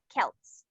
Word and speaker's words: Celts: Pronounce it with a K. Celts.